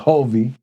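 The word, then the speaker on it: Hulvey: Perry Lane it's by I think it's pronounced hovy hu l v y it's on my cruising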